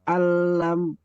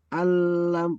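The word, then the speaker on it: أن لم: Eh gini Pak tadi jangan alam. Jangan alam. Alam itu berarti kan ee enggak ada tasdidnya ini. Padahal dia ada tasdidnya lamnya itu.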